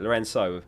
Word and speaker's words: Lorenzo: Lorenzo, pronounced with an S, not Cho.